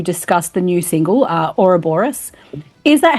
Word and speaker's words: Ouroboros: we're here to discuss the new single uh Ora Boris is that how you pronounce it because I always hear it pronounced